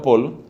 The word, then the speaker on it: Paul: Escriba el nombre de este convertido famoso de principios del siglo XX, Paul, escrito Paul, se pronunciado Paul, Paul Claudel, pronunciado Claudel, Paul Claudel.